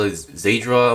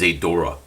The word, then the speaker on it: Zeydra: high grades a durock some people call is a draw but I believe the actual pronunciation is a Dora now this kid this